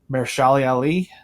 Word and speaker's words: Mahershala Ali: That voice was Mahershala Ali. Yes. I think is how you pronounce that.